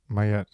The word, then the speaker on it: Maat: So Maat has different names, and you choose to pronounce you choose to use the name Mayet, Mayet. Is that right? Instead of pronouncing it as Maat, Maat, Maat.